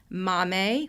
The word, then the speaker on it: MAAME: Each Adolescent Reach Their Spark, Grow Your World, MAME, which is spelled MAAME, and AMI Kids.